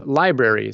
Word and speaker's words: LBRY: One of those platforms is Library, so it's spelled LBRY.